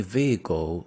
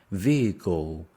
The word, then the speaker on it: vehicle: Vehicle. The stress is on the first one.